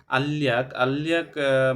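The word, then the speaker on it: 알약: এনে বলছে আল্লিয়াক মানে হচ্ছে যে ট্যাবলেট। এখানে আল্লিয়াক উচ্চারণ করা হচ্ছে কারণ রিয়ল বাচ্চামের পরে ইয়া আসে, তাহলে রিয়লের উচ্চারণটা ডাবল লয় লয় হবে।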